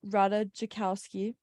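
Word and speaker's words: Ratajkowski: it Pete Davidson is getting to know Emily Rada jakowski that's how you say it today a source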